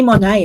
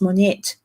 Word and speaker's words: Monette: she'll give you one I say Monet it's Monette her name is spelled m o n e t e so for me it's like but it's Monette go check it out